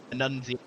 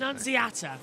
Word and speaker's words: Annunziata: Annunziata is how you pronounce it. Annunziata.